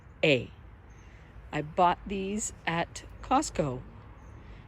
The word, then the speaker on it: Fritillaria: They're a fritillana. I'm saying it wrong. Let me try that again. Fritillaria.